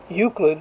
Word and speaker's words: Euclid: Mr Olsen for geometry Euclid rhymes with putrid he assigned everyone a